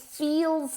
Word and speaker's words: feel: Feel, como si fuera con dos sílabas, okay?